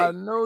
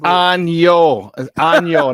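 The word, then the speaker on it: Año: now I got it right Sean I think I know you butchered it up it's on Yo not I know I'm your Nuevo yes no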